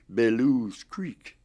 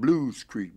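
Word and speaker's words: Belews Creek: would call that b-e-l-e-w-s bellews creek yeah but the people white and black in this town call it blues creek b as b-l-u-e-s and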